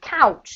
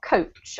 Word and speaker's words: couch: you to go over this one is couch not coach okay couch okay yeah cuz I coats is like a bus all right does anybody